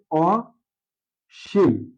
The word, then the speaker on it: অসীম: আমরা আগে বলছি যে নেতিবাচ্য অর্থ দিলে শুরুতে অয় থাকলে সেই শব্দটির উচ্চারণ অয় ওই বজায় থাকবে অর্থাৎ এখানে অশিম অসিম তো এই শব্দটা দুই ভাবে